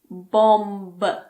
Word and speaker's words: bomb: We usually don't pronounce the B if it's after M at the end of a word. For example, bomb. It's not bomb.